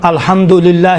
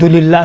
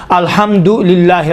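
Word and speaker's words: الحمد لله: مثلا الحمدللہ رب العالمین، دللہ صحیح نہیں ہے، دلیل دیکھیں الحمد الگ ہے، للہ الگ ہے، حمد ہو للہ پروردگار عالمین کے لیے، للہ خدا کے لیے، الحمد بالکل الگ تلفظ کریں، للہ الگ دلیل نہیں کہیں۔ اور روایات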